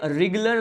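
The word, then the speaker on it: wriggler: इसे रिगुलर larva कहा जाता है। ठीक है, यहाँ पे डब्ल्यू साइलेंट होता है।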